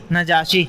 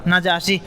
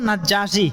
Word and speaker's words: নাজাশি: নাজ্জাশি নাকি নাজাশি শব্দটা কি উচ্চারণ? নাজাশি, প্রসিদ্ধ হলো নাজ্জাশি, কিন্তু আরবিতে জিমের উপর কোনো কি নাই, তাসদিদ নাই, তো নাজাশি বলাটাই উত্তম।